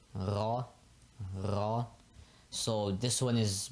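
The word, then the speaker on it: ر: it with your tongue if you can't roll your R that's totally fine you can just say raw as well that's fine as well and yeah just like an r in English basically pretty similar except with a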